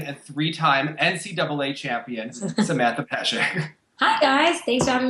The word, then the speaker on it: Peszek: It's Peszek, like with an SH. Peszek. Okay. Peszek, even though there's a Z.